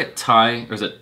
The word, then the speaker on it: Thai: Thai, or is it Dai?